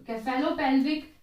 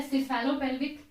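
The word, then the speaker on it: cephalopelvic: तो केफेलोपेल्विक या सिफेलोपेल्विक different pronunciations हैं।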